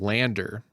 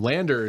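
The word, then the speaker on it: LANDR: yeah this one is Lander and Lander is spelled without the e at the end which has always pissed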